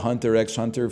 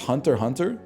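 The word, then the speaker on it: Hunter × Hunter: I I've been calling it Hunter X Hunter for years, man. is pronounced hunter. Hunter.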